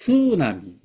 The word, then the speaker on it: 津波: です例え外国人もスナミスナミ言ってますスナミではないですツナミ TSU ツなみで外国結構例えば